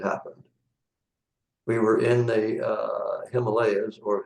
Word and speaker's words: Himalayas: We were in the Himalayas, or Himalayas as they're actually pronounced, actually in Tibet at a monastery.